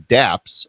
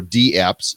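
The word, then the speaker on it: dApps: her first episode was talking DAPs or d apps sorry I better say it right D apps with David Johnston the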